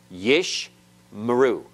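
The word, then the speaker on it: יִשְׁמְרוּ: back to back so the first one is silent closing the first syllable yish and the second one is vocal opening the next syllable yish meru yish meru everyone pronounce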